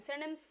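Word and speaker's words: synonym: सिनोनिम्स इसका pronunciation साइनोनिम नहीं होता है। स सिनोनियम नहीं होता है। इसका प्रोनंसिएशन होता है ना सिनोनिम सी नो निम इसका प्रोनंसिएशन होता है सिनोनिम सिनोनिम।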